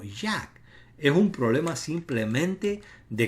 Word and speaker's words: Yah: No se pronuncia como Ye cuando se contrae, sino como Yad.